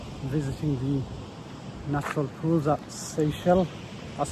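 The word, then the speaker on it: Seixal: So we are done with visiting the natural pools at seell. That's how you pronounce it by the way.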